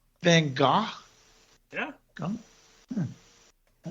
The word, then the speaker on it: Van Gogh: Vincent Van Gogh. Van Gogh?